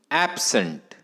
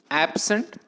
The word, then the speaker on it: absent: of the word but if the word is used as a noun then we have to mark stress on the first syllable phonetic transcription yeah words